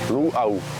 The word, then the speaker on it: luau: free to use that the next word is Lu why in the world are we sitting by this uh we'll get to that in a minute but the pronunciation of that word is Lu there's a glal break between the U and